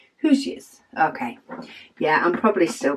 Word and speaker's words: Hoosiers: She said the word Hoosiers, pronounced who is there, combined, oh, who's there? Hoosiers.